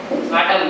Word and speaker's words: autumn: Autumn. AUTUMN. That is correct. Okay, that's amazing. Good job. So it's important to know that in the English language, a lot of words have silent letters at the end, but you got that.